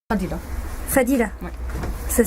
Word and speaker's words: Fadila: Fadila. Fadila. Oui. Ça s'écrit F-A-D-I.